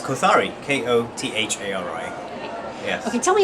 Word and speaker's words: Kothari: it's called t-a-l-y-f-y and your last name it's kothari k-o-t-h-a-r-i yes okay tell me a little bit